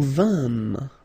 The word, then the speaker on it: vîmes: Je vins, tu vins, il vint, elle vint, nous vîmes. Remember, it's quite tricky to pronounce that.